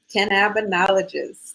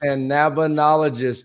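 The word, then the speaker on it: Cannabinologist: Oga, who is an emergency medicine doctor, but also you want to pronounce that, Doc? Cannbinologist. Cannbinologist.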